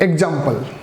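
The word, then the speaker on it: example: तो wrong pronunciation is द एग्जाम्पल and right is द एग्जाम्पल। ए गलत है, ई correct है।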